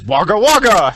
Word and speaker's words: Wagga Wagga: Now let's see you pronounce them. Oh, Keith, we'll take turns. I'll go first. God. First is Wagga Wagga, and the only reason I got that right is because I had a pronunciation key.